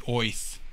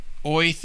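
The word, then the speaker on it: Oerth: that orth is actually pronounced as if you had a new york accent so earth is supposed to be oith oh interesting that's how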